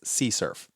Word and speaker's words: CSRF: Cross-sight request forgery is often abbreviated as CSRF and sometimes pronounced as CSURF.